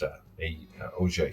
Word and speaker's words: Auge: than it is a French word, but it's pronounced a o.